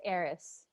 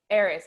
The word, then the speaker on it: Eris: Yeah, but the thing is, she's not really KFC Harris. It's pronounced Eris. Eris.